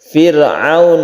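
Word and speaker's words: فرعون: disini Mad Jaiz munfasil Firaun Arok nya ini tipis karena sebelumnya ada kasrah Firaun a warm alaih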